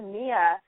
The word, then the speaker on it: Mia: mispronouncing it and then so i went to mia and people still call me Maya and I'm like I'm